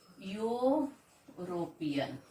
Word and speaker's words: European: be pronounced as a European. This is the sound yo. Okay, EU is pronounced as European. So it is starting with Y.